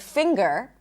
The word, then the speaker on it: finger: However, when you see the ng spelling pattern in the middle of a word and it's not right before a suffix, for example, in the word English or in the word finger, you actually pop the g. It's not that you pop the G. There is a G sound in addition to the M sound. Finger, English, hungry.